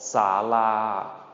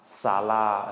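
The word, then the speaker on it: ศาลา: Second part has 2 syllables to it. Sa. Also a long rising tone, same as both saw, sa. Okay, both long rising tones. Sa. And then the second part, or the second syllable of the second part, la. Long mid-tone. La. La.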